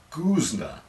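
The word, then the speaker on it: Goosnargh: pronunciation the village of guzner whose gh is silent unlike the famous guzman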